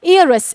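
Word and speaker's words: heir: Star लगवा रही हूं, इसका मतलब महत्व है बच्चों इसका एयरस। इसका प्रोनाउंसिएशन भी इसी तरीके से रहता है, एयर।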